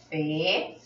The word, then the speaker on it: fait: La pronunciación es igual, c'est la même. Il n'y a pas de différence, no hay diferencia.